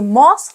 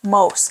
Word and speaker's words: moss: was actually Moss so I need to say Moss like floss he said not Moss as I used to say without you you know